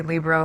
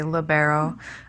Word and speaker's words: libero: that many mispronounce it well actually it's an italian word and so that's why i say libro most americans will say libero the word means free